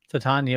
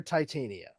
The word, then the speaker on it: Titania: correct that real quick the character's name should be pronounced to tanya but because we are in america and people are stupid and juvenile they will probably call her titania but the name is